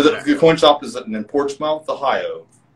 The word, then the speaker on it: Portsmouth: coin shop is in porch mouth ohio we say portsmouth here but it's spelled port's mouth and it's in southern